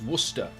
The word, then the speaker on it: Worcester: No, it's not pronounced W. It's worship. Oh, it's Worcester.